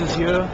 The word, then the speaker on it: Azure: Azure. Azure.